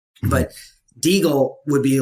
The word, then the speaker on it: Degle: want to go by diggle now or some combination of the two so the my name is pronounced deagle that is actually how you pronounce it i just spoke okay